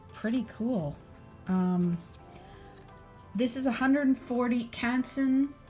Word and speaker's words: Canson: This is 140 Canson, or Canson is the proper French pronunciation, but the blade setting